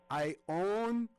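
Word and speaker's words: Ionie: Yes, Ione. And it's pronounced Ione. The E is not silent.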